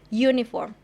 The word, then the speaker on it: uniform: starts with letter u it's a vowel letter but it is pronounced it starts with the sound uniform therefore we consider that this word starts with a consonant letter hence using a